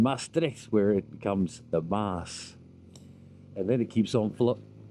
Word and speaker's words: Maas: The Meuse is the French pronunciation, and Maas is the Dutch pronunciation, and that flows north through through here where we are, through Dinant up into Namur.